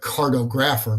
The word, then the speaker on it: cartographer: It looks like cartographer, but it's pronounced cartographer, and a cartographer is a map maker.